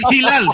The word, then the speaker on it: Hilal: Al Hilal, bro. That's Hilal.